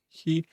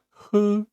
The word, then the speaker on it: 喝: It's not he 喝 it's a bit also hard to pronounce.